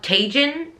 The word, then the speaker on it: Tijan: by, little side note, I think it's pronounced Tijan, right? But I've been to many book signings. I've met her twice. And some people call it Tajin and some people call it Tijan.